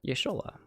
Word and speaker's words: Y'shtola: Y'shtola. That's right, that's how you say it. Y'shtola.